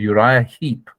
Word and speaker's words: Uriah Heep: character from Dickens called Uriah Heep, right? You're right. You have to also think that the word heap rhymes with the word creep.